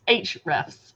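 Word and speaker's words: Ahrefs: that disappointing oh huh according to their brand their company it's h refs with a silent a h ref huh so what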